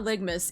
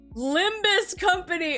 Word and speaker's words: Limbus Company: to start saying that it's not ligmas it's freaking limbus company oh my God I